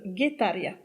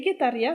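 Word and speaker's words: Getaria: Mon coup de cœur, c'est Guetaria. Attention, c'est basque et ça s'écrit sans U, ça s'écrit G-E-T-A-R-I-A. C'est un petit village de pêcheurs sur la côte basque, à 2 pas de San Sebastián, Et Guetaria, c'est un véritable havre de paix.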